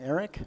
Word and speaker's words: aerc: I just found this I don't know how to pronounce it the aerc Eric I don't Eric is that's how it's pronounced the setup for it